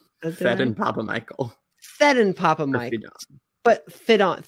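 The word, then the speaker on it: Phedon Papamichael: Findon Papa Michael? Nope. Fedon Papa Michael.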